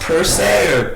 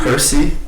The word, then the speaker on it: Pearce: Dude, is it pronounced Pearce or like Percy? Yeah, not Percy?